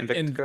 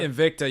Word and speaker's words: Invicta: Is that how you say it? Invictica? Invicta, yeah, those were my first watches I started buying back in college.